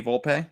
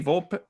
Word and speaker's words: Volpe: for the first time I always thought it was Anthony Volpe right what is is it Volpe and Jimbo was like is it Anthony Volpe or Anthony Volpe and I'm like I don't know I always said Volpe but I'd never heard the name and then finally I